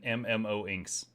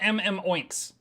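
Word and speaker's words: MMOInks: Mukluk, Bird of Chess, Jebro Unity, and MMO Inks. Not MM Oinks. I myself got that name wrong.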